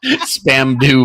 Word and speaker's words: Spandau: Spandau Ballet. What the This is how Americans pronounce it, Brendon. I didn't say spam. I said span like with an N.